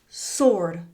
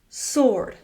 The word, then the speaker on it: sword: Sword. Sword.